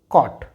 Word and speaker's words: caught: यहाँ पर GH silent है तो इसका प्रोनाउंसिएशन होगा बॉट, बॉट। यहाँ पर इट इज़ कॉट, कॉट।